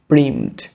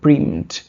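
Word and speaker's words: preempt: প্রিভেন্ট অর প্রিমড, প্রিমড। Okay, same ভাবে double E এর মতো উচ্চারণ হবে প্রিমড।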